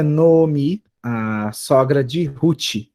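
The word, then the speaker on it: נָעֳמִי: Se a primeira sílaba tiver um kamatis, esse vai ser catana. Então eu leio essa palavra, esse nome próprio, como no omi.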